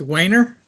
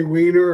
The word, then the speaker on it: Wayner: So it's Wayner? Yeah, you got it. Yeah, we got it. We got a You Nancy. even pronounced it right. Really? Most people want to say Wiener or Weiner or something.